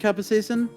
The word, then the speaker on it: capsaicin: It would be so easy, but an overdose of capsaicin into his spicy food. Oleander. See if he's lactose intolerant. And take No, if you put milk. I believe it's pronounced capsaicin.